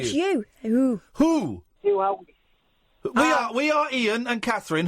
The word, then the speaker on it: Huawei: By the way, in the Chinese phone company, it's pronounced Huawei. So I'm saying Hawaii. It's not pronounced either way. It's Huawei.